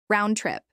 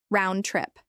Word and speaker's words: round trip: Round trip. This is pronounced with equal stress on both words. Round trip.